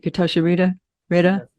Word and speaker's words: Getachew Reda: Getachew Reda has, did I pronounce that right? Getachew Reda?